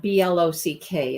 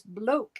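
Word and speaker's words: bloque: So mine is called the block stitch, but it's not B-L-O-C-K. It's B-L-O-Q-U-E. It's like the bloke stitch. That's what I thought when I read your text. I thought you were saying it was bloke, and I had to look it up, and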